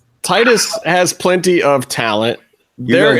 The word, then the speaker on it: Titus: It's weird that you guys keep mispronouncing his name. It's clearly Titus.